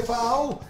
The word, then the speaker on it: FAW: FAU se escribe FAW y se escucha ¡Fau!